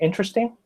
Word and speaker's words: interesting: that do that like interesting remember interesting interesting looks like four syllables it looks like interesting but you don't say that you say interesting that's in reasonable ones